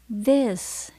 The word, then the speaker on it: this: t chữ H Các bạn phát âm bằng cách mình để lưỡi ở giữa hai hàm răng của mình chứ Khi mà mình bắt đầu nói thì mình sẽ kéo nữa vào trong bụng phát âm ra This is nó mà các bạn đọc như đồ của tiếng Việt là disk thì là không đúng với các bạn gas is